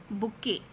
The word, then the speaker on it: bouquet: Bouquet. Look at the spelling. B-O-U-Q-U-E-T. Bouquet. Though it is T, the T is silent.